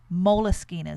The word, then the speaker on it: Moleskine: part of the problem moleskine is that how you say it moleskin with an extra e all writers seem to